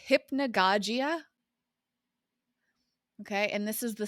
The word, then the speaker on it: hypnagogia: It's pronounced hypnagogia.